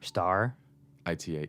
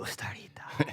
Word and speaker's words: Starita: Star? Ita. Ita. Starita. Starita. Starita. It's less Japanese. More Starita.